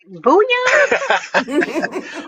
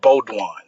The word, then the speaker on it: Beaudion: Uh, Booya. Uh oh. Uhoh. Am I pronouncing now?